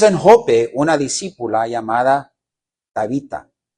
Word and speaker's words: Tabita: Tábita, ¿cómo se dice? Tabita. Era chiquita.